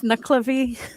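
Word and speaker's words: Nuckelavee: And could you give us the proper pronunciation of it? Sha is knucklevy.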